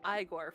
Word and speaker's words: Igor: It's pronounced Iiggore from Young Frankenstein and the Eigore animation movie from John Cusack animation.